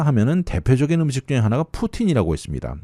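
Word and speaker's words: poutine: 다음은 캐나다 맥도날드에 가보신 분들은 아실 텐데 캐나다 하면은 대표적인 음식 중에 하나가 푸틴이라고 있습니다. 이 사실 발음이 러시아 푸틴과 똑같은 발음인데요. 스펠링이 P-O-U-T-I-N-E라고 쓰는데 이 캐나다 중에서도 특히 프랑스어를 하는 프렌치 캐네디언 지역에서 인기입니다.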